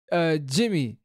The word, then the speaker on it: DgyMie: I said it completely wrong, but I see why it's called Jimmy. But that's actually pretty cool how it's spelled too.